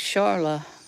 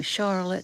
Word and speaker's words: Charla: My name's Charla, Charla. Thanks for asking, doctor. I was named after my daddy. His name was Charles. And lots of people get my name wrong. They call me Charlotte. They call me Carla.